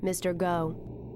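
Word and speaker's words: MRGO: Waterway known as the Mississippi River Gulf Outlet pronounced Mr go it was originally created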